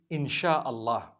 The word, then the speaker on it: Insha'Allah: They pronounce the S-Y the way we pronounce S-H. So they can write it how they want, for as long as when people read it, they read it Insha'Allah.